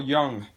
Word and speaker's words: Jung: Alright, now, according to Carl Jung, the J is silent, you consider the cat to be more of the trickster as an archetype.